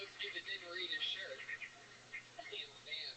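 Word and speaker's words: Tampham: For those of you that didn't read his shirt, Tam Fam is spelled T-A-M-P-H-A-M. Word to that. Oh yeah. Heavy on the PH.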